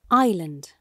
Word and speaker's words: island: pronunciation section of your textbook how do you pronounce it Island very good Island yes Island Island okay Island